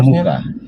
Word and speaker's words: Muca: Muca atau Muka sebenarnya? Tulisannya Muca, bacanya Muka.